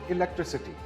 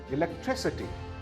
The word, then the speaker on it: electricity: It is not electricity. It is electricity.